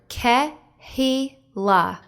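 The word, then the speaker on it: קהילה: the same root kehila listen to the word ke he la can you take a guess at the spelling of the hebrew root for the word kahila if you guessed kuf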